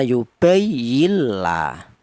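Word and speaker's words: يبين لنا: huruf nun ini dilebur, bila gunnah artinya itu tidak ada suara berdengung ya. Sudah, contoh bicara bacanya yubayinla. Kalau ada dengungnya salah ya, yubayinla salah. Karena ini idgham bila gunnah.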